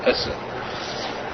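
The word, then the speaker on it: עשה: The Klal in the Gemara, asay, or the way it's said, whether it's correct or grammatically, it's pronounced Esa. Say it's pronounced Esa by those who know Gemara.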